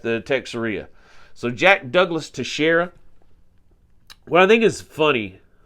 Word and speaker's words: Teixeira: Guardsman and uh his name is Jack Douglas to Shara I had to look look at the pronunciation because it's spelled like texarea which hey